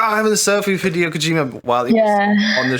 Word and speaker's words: Hideo Kojima: And when Hideo Kojima, is that how you pronounce his name?